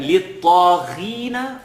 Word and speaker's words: لِلطَّاغِينَ: I know you remember in verse number 22, we looked at لِلطَّاغِينَ. The first time we were making a heavy letter, not so heavy.